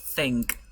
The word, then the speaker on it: think: Like, pones tu lengua, you put your tongue between your teeth. Pones la lengua entre los dientes y soplas un poquito de manera sutil. Okay? So, del mismo modo vas a pronunciar la palabra think.